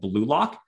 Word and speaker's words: Blu-Lock: So what I recommend and what I actually really like to use is a different product called Blue Lock. That's spelled BLU-LOCK.